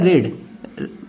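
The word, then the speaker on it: read: और पुस्तक का थर्ड फॉर्म होता है रेड। स्पेलिंग रीड ही रहती है, बस उसको रेड पढ़ते हैं, रीड रेड रेड।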